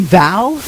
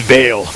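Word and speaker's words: Vale: there are monsters in val it's pronounced Veil right whatever so there are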